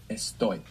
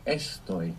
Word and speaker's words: estoy: we have is that this verb is the only verb in the entire Spanish language that doesn't have the accent on the penultimate syllable in the present tense. So, it's not estoy, it's estoy. The accent's on the ending.